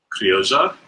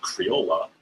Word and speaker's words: Criolla: So CVM, Rambouillet, Criolla, which is how you pronounce what I have always been saying as Criolla because I'm American.